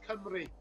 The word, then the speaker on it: Cymru: Is it Cymru? It's not far off, Art. It's not far off. It's Cymru. So, yeah, it's Cymru. But to be fair, that's one of the better pronunciation efforts I've heard.